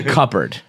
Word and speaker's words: cupboard: It should be cupboard.